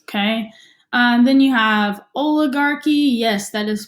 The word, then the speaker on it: oligarchy: those little boxes okay and then you have oligarchy yes that is pronounced oleg Archy okay so monarchy you've heard of before because